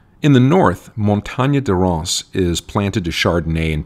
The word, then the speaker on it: Reims: another city whose name though it looks to english-speakers like it should be pronounced Reims or REMS the French actually pronounced something like Ross more or less Epernay